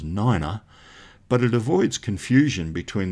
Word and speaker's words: nine: The pronunciation of the numbers 3, 5 and 9 sounds a little bit weird. 3 is tree, and 5 is fife, and 9 is niner.